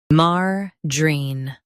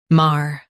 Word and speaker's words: margarine: Margarine, margarine. Stress mar and keep j soft. Margarine, margarine.